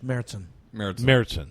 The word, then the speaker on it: Märzen: Yeah, in German, when you have the umlaut over the A, it's pronounced like a long A in English. Märzen. Yeah. Okay, Märzen beer.